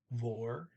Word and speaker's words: Hvor: Vor, H is silent there.